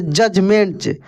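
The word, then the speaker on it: judgment: आप नियम सीख लीजिए यदि किसी वर्ड में डी और जी ई इस प्रकार से मिलता है एक साथ में तो डी साइलेंट रहता है डी का प्रोनंसिएशन नहीं होगा जैसे जजमेंट जजमेंट ठीक है ना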